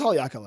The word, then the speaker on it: Haleakala: Oh, it is Haleakala. I pronounced it correctly?